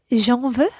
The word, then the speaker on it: j'en veux: I would say, oui, j'en veux. Très bien. The je drops its e and it becomes J apostrophe and it becomes j'en veux.